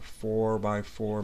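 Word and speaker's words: 4×4: So even though we write 4x4, we say it's a 4 by 4 matrix, we pronounce the x as by.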